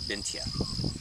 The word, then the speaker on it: Bintje: And then right now they're digging my favorite, which is a Scandinavian variety called Bintje, and it's spelled B-I-N-T-J-E.